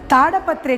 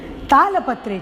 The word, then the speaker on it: तालपत्रे: उसी तरह पताका हस्त विनियोगा में ताड़पत्रे च नहीं, तालपत्रे च सही प्रोनाउंसिएशन है।